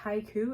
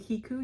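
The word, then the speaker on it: Hikoo: By, I believe it's pronounced Haiku. It's H-I-K-O-O, but it could also be Hiku yarn.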